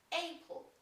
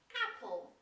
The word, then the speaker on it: Apple: zajmujący się gadżetami i używają takiego dziwnego czegoś jak Aple to jest Apple jabłko Okej jeżeli chodzi o